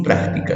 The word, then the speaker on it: práctica: Tenemos práctica, ¿no? Usted sí la vea. Práctica. Sabemos que la sílaba tónica es prac.